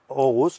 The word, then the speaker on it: Aarhus: doble A se lee O en danés. Ajá. Por eso Aarhus, que es la segunda